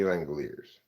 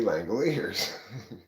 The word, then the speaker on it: Langeliers: Fang of Queers is rhymes with LangEliers, but let's all bang some spheres. Shea LangEliers.